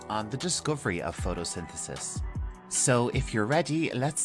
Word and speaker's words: photosynthesis: the and finishing with CIS and Al together photosynthesis one more time photosynthesis so let's move on and look at a